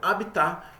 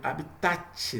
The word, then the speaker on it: habitat: Então é habitat e se escreve habitat, né, com T mudo no fim aí.